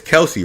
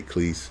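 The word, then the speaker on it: Kelce: It's Kelsey, right? I keep on saying his name wrong. I say Cleese.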